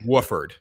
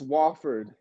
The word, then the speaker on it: Wofford: say wofford i said you're saying it wrong it's wofford oh i care that's why it's one double a football nobody cares wooford it's wooford it's not wall there's not even two o's in it it's wofford it's wooford